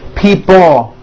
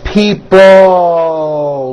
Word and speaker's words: people: Notice in this last word, people, it's not pronounced people with your tongue not moving. It's people with your tongue slowly moving up and your jaw remaining down. Stretch out that L sound.